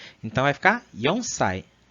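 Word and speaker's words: 四歳: Só que como o Shi remete ao som da morte, para a idade eles vão usar o Ion. Então vai ficar Yonsai.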